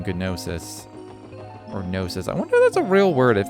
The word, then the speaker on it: gnosis: pronunciation nsis oh is I mean I figured the G was silent I don't know gnosis does